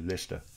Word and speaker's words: Leicester: It's spelt Leicester, but it's actually Leicester.